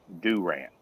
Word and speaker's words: Durant: in Durant Oklahoma that's pronounced Durant Durant yeah it is Oklahoma